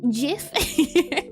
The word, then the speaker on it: GIF: And the correct pronunciation is Jif.